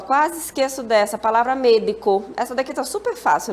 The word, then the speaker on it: médico: A palavra médico. Essa daqui tá super fácil, né? Vamos separar? Olha só. Médico. Médico. Qual é a sílaba forte? Me. Então, como é que a gente vai falar? Médico. Médico.